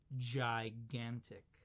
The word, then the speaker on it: gigantic: is a great word it's a little tricky because there are 2 g's and they make different sounds the first G is a soft G sound say it jai jai the second chi is a hard G sound good gigantic gigantic so here